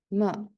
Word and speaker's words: 吗: Pay attention to here, ma. We should pronounce as the fifth tone.